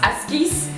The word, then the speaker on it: Askies: This one sounds like an Afrikaans one. That's pronounced Askies.